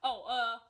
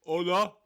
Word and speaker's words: hola: Hola, kindness. So we've been talking over the last few weeks about how you pronounce hola.